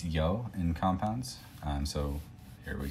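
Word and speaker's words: 曜: And this one is pronounced yo. It's actually a long O, so say it twice as long as you normally would. So instead of yo, it would be yo.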